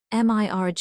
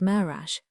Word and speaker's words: mirage: "Mirge is pronounced mirage," said Valancy shortly, picking up her tea and her beans.